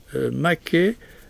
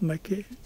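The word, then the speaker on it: μάχη: En grec, maké, oui, on prononce bien comme ça, maké, oui, veut dire le combat.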